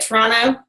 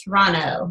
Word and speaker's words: Toronto: If you live in Toronto, so I say it, Toronto. Apparently, I went all over social media saying Toronto, and they were like, "There's no, the T is silent. It's Toronto."